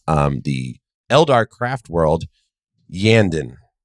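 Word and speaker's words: Iyanden: the Eldar craft world yandan that is the pronunciation I'm going to go with i y a n d e n see how [ __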